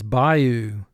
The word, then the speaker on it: bayou: 2 syllables. First syllable, by, 2 sounds, b, I. Oo, 1 sound. Bayou. Mark the word. Bayou. A Y is representing a sound it does not normally represent, so we put an X under it.